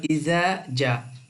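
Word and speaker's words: إِذَا: উচ্চারণ হয় শব্দ হল ইজ ইজা শব্দটা লাম্বা হইব এক আলিফ জালের সাথে আলিফ আছে জাতিলানি মধ্যে মুত্তাস নাসরুল্লাহ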